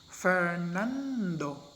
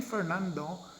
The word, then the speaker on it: Fernando: we say that none the second syllable in the name fernando is stressed or accented say for example in